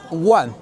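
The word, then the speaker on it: 卍: But which it is pronounced like uh one one meaning happiness or auspiciousness in the in Hinduism of the in Buddhism.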